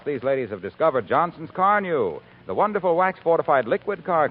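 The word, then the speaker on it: Carnu: Why don't you try Car New?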